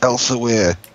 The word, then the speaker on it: Elsewhere: Because it's Elsewhere. Yeah, but they just pronounce it as Elsewhere. Even if it's spelled funny.